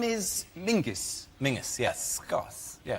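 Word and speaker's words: Menzies: But it's pronounced it's it's spelled M E N Z I S. Yes. Well, why are you looking at me like I'm insane? He's got mensies. Mens. John Menses. But apparently, let's go to John Mingus. They don't do it. But what's he Martina Hingis? Martina. Why are they still looking at me like I'm not making sense? It's a It's a G, not a Zed.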